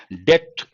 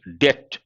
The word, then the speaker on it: debt: Second demand, debt. Here B is silent, debt.